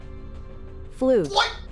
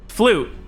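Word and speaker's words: fluyt: Flute. Flute.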